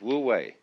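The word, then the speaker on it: wu wei: and so the Taoist manner of life is woo way Don't Force It always go with the stream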